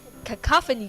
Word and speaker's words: cacophony: have harsh discord the mixture of sounds company cacophony guys that's how you pronounce it of course find the speaker first